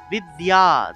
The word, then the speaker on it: বিদ্যা: তাহলে সরস্বত্যাই নমো নমঃ, বিসর্গ থাকায় হ, বেদ বেদাঙ্গ বেদান্ত বিদ্যা, তো এর সাথে জফলা থাকায় ইয় উচ্চারণটা আসবে বিদ্যা, বিদ্যা স্থানেভ্য স্থানেভ্য এব চ।